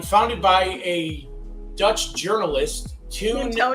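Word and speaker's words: Teun: by a Dutch journalist tuned Tony Well, the Dutch pronunciation be tune or toying probably tune.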